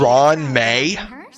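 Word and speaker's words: Ruan Mei: Ron doesn't like Fanfare and probably wouldn't appr Ron may as the researchers they're they're pronouncing this as Ron I feel like it should be ruin ruin or Ruan may like it shouldn't be just Ron May wow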